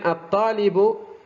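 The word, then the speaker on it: الطالب: Kemudian at-talibu, at-talibu, ta lamnya hilang menjadi at-to, bukan al tapi at-talibu, masuk ke syamsiyah.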